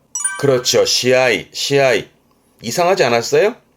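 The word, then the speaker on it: 試合: 우리말로 시합이니까 합격 그러면 앞장에서 했지만 고가 그러면 시고라고 해야 되는데 그렇죠. 우리는 시합이라고 하는데 일본 친구들은 합 서로 서로 겨운다. 서로 겨운다는 의미에서 앞에서는 시니까 발음은 로하고 합발음은 아우에서 아이 발음 나와서 시아이 우리는 시합이라고 읽지만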